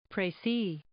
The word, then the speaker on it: précis: Précis.